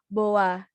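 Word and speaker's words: boğa: g-nya tidak di wajah jadi ini dibacanya Boa seperti tidak ada G di tengah-tengah sini Boa karena dia yumusak G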